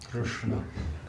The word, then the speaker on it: Krishna: bring it close to the hard palate, that's how you pronounce Uh-huh. r. With r in Krishna. Krishna.